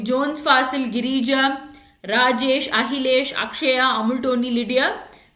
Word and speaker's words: Akshaya: So it's like Akshaya or Achaya. So you pronounce it as A-T, Achaya. So but it's actually Akshaya, right?